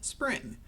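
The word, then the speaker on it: Xpring: by ripples investment arm spring spring spelled with an X got to love it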